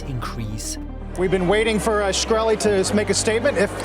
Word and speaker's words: Shkreli: his last name and is it pronounced shkreli yes sir and another one to